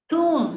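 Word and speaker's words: tomb: இது ரொம்ப முக்கியம் கள்ள டூம் டூம் டூம் இங்க பாருங்க டூம் இந்த பி இல்லன்னு நினைச்சுட்டே பண்ணனும் டூம் கல்லறை டூம் சோ நீங்க வாசிக்கிறப்ப நீங்க பேசுறப்ப நீங்க கேக்குறப்ப இது இப்படித்தான் இருக்கும் இந்த பி அவங்க உச்சரிக்க மாட்டாங்க டூம் அப்படின்னா கல்லறதை நீங்க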